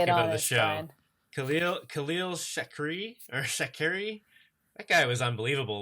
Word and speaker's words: Shakir: How do you say his name? Is it Shakir? Shakir. Yeah, Shakir. He made some really great catches.